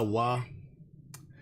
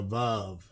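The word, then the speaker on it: ו: think about the letter Wa. Now, for those of y'all who don't know Hebrew, this first part right here, this right here is a Wa, right? And our Ashkenazic brethren call it a Vav.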